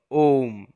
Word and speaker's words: ওম: ওম, এই লিপিটি 3টি ধ্বনি দ্বারা তৈরি হয়েছে, অ, উ এবং ম, তাই এর শুদ্ধ উচ্চারণ হলো ওম।